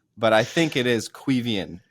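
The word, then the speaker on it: Caoimhín: yes, thank you to everyone who's been like, bro, it's Quevian.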